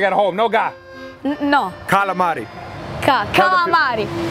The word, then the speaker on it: calamari: Calamari. Galamad.